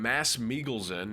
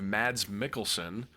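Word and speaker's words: Mads Mikkelsen: And if you're wondering why I'm saying Mass Miglesen instead of Mads Mikkelson, it's because that is the correct pronunciation.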